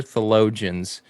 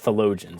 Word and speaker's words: theologian: times for you benny theologian there you go that's how you say it not the logins that's that's [ __